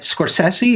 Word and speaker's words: Scorsese: And people always correct my pronunciation of his name. And I've never met him, so I've never gotten to ask him. But Scorsese, is that right? That's correct.